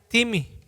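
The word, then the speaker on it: τιμή: la palabra viene y se escribe tim se pronuncia dime y la definición más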